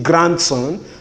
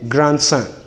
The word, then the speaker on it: grandson: pronounce it as grant well whenever it has a suffix then it is not the letter d in grand is not to be realized so we don't say grandson rather say grandson we don't say grandfather